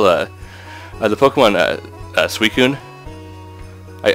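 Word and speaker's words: Suicune: Pokemon uh suun I I used to think it was pronounced susine I I I pronounced it suicide yeah and I was wrong yeah well I was wrong too but I call I call it suu now it just took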